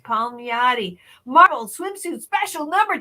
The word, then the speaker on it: Palmiotti: Palmiotti. Palmiotti.